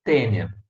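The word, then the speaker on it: Taenia: tem eh saginata né se escreve thaeme mas ele tênia acho que saiu que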